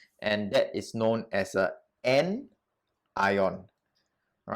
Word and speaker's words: anion: ion as well and that is known as a n ion all right so pronounce it with me again n ion how do i remember so you look at